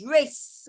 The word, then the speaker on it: race: Don't say rake. Okay. If you want rake, then rake would be written like this with a clicking K. Hold on. With a kicking K like this. Rake. This one is rake. But the other one is race when it has the soft C.